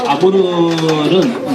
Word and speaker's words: 아무르: 아무르는 러시아 말이에요. 한국에 가면은 흑룡강이라는 큰 강이 있는데 흑룡강의 러시아 발음이 아무르입니다. 아무르강입니다.